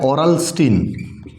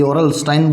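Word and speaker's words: Aurel Stein: पढ़ना है, वो है ओरलस्टीन। कई ओरलस्टाइन बोलते हैं, कई ओरलस्टीन बोलते हैं, वो अपने अपने प्रोनाउंस करने का तरीका है।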